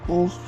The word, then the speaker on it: Loch: hills, just there, is Loch Ness. So you in Scotland, so you've got to try and pronounce the loch instead of lock, because otherwise that's L-O-C-K rather than L-O-C-H.